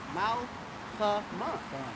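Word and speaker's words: מלחמה: Like I mean, that's Malcolm. Right? Malchama. Like the elder Malcolm.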